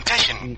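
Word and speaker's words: Teschion: How do you spell that, please? T-E-S-C-H-I-O-N, Teshin.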